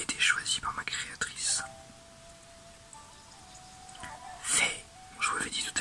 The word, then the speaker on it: Fi: Faye, je vous l'avais dit tout à l'heure, tel est le nom qui m'a été donné. Alors, je crois qu'en anglais c'est Fee, mais en français c'est Faye.